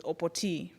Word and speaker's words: Opoti: so opportu which i actually mispronounced my names because i speak english i i mean english is my first language but my middle name is supposed to be and my last name is opoti but i am not used to pronouncing it that way and i have other